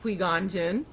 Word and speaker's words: Qui-Gon Jinn: A Jedi Master called Qui-Gon Jinn, pronounced Qui-Gon Jinn, met Anakin and decided to train him to be a Jedi.